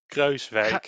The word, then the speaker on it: Kruijswijk: It's Kruijswijk.